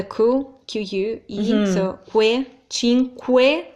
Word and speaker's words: cinque: qu he's a way Cinque like think of question yeah what the word question in English so we have that sound that's not an issue so Cinque not chin yes we don't change